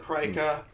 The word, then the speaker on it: Krika: to pronounce it Krika.